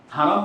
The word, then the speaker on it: হারাম: বলতে আপনি কি বুঝেন আমাদের বাঙালি ভাষায় আবার হারাম বলতে শুধু হারামটাকেই বুঝে হারাম মানে যে পবিত্র